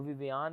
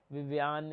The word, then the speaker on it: Vivian: उसके बाद जो विवियान है, विवियान ही है ना, विवियान, हमारी प्रोडक्शन हमें बताती है कि विवियान है, मेरे मुंह से प्रोनाउंस